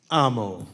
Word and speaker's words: Amo: how do you say your last name Gabe Amo Amo all right brother I got Ito well